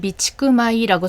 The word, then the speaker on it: 備蓄米: 앞에 그림 보고 계신 것은 미치구마이라고 써 있고요. 앞에 있는 두 글자 한자는 비축이라는 뜻. 그리고 뒤에 있는 한자는 쌀미로 마이라고요 비축미에서는 마이라고 읽으시면 됩니다.